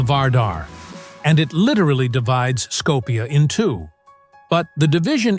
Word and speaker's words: Skopje: While Muslims pronounce it Oskup, the city is widely known around the world as Skopje.